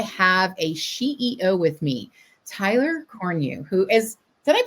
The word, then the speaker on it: Tyler Cornu: excited today I have a CEO with me Tyler coru who is did I pronounce it right Tyler Tyler corne did I do that yeah you did awesome